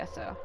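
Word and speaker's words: Aso: Alright, find Misaki Eso. So they did change the pronunciation of that name. It used to be A-S-O-U, and now it's just A-S-O.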